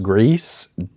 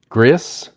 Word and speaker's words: Gris: I think it's called I think it's pronounced Greece. Gris.